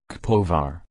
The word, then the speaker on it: Kaposvár: Kaposvár, Hungarian pronunciation, Kaposvár, German, Rupertsberg, see also other alternative names, is a city in the southwestern part of Hungary, south from the Lake Balaton.